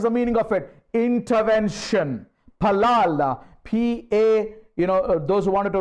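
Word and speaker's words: פלל: Palal. P-A, those who wanted to write down, it's P-A-L-A-L. How do you pronounce it?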